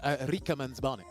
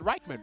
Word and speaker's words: Rikemansbarnet: No, because I actually asked him, how do you pronounce his name? He says Rikemansbarnet. Yeah, that's exactly how I was saying. I said, I was ignorant like you. I said Reichman, because that's how I damn!